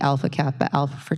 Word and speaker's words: Alpha Kappa Alpha: And that is through a partnership with the Alpha Kappa Alpha sorority.